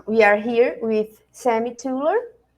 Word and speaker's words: Thuilier: are here with Sammi tuler it's right tuler the the pronunciation Sam it's not easy hi kolina uh it's it's TR it's a French name but uh it's really